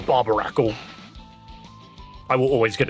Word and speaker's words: Barbaracle: Oh no, not Barbarakle. I will always get its name wrong. I will always say that this Pokemon's name is Barbnacle. Never once will I get that right.